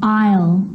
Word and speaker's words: aisle: Now an S can also be silent. And I know that you've already struggled with this one. Island. Island. Debris. Debris. And aisle. The bride walked down the aisle.